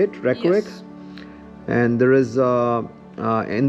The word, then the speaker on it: Reykjavik: That's how you say it, Reykjavik.